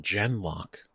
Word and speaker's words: Genlock: Oh, they're pronounced Genlock.